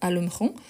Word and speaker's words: allumeront: ici c'est très proche la prononciation c'est la même alumron alumron sauf qu'ici c'est avec S ici c'est avec T ok par rapport à la